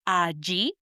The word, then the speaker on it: allí: And these two words are allí, spelled A-L-L-I with an accent on the I, or allá, spelled A-L-L-A with accent on the last A, allá.